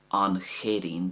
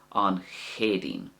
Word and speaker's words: An Chéadaoin: So one is kind of soft, the first way, an Chéadín, because you can see the H there after the C. It softens it at the start, so it's almost like you're blowing some air from your tonsils along the top of your throat in order to get that proper sound.